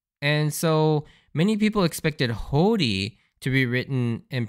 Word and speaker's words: Hody: Without the bar, because in the Japanese you'll see the katakana character for Ho, and then you'll see this bar which tells you to elongate the Ho, and then you'd have